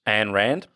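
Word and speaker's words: Ayn Rand: I've always questioned this do you pronounce it an Rand or Anand an Rand yeah an Rand is it an Rand yeah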